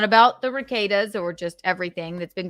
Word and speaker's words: Rekieta: I think Rekieta's a bad guy. And I hate that name. It's like Rekieta that rhymes with cicada.